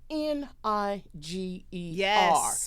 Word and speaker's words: Niger: to a country spelled N I G E R. People don't know that. People don't know that. That country is called Niger. Mhm. That's not how people are pronouncing it though.